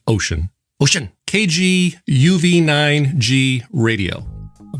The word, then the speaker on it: Wouxun: of the first to get one wookson ocean pronounced ocean spelled wookson pronounced ocean ocean kg uv9g radio i'll be going over